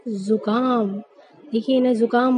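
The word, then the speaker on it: ज़ुकाम: अब कुछ लोग तो इसे बोलते हैं जुकाम हो गया, लेकिन ये गलत होता है इसका उच्चारण। तो इसको बोलने का सही तरीका क्या होगा, जुकाम। इसको हम जुकाम नहीं पढ़ सकते, ना ही इसे जुकाम पढ़ा जाता है। सही उच्चारण इसका क्या होता है, जुकाम।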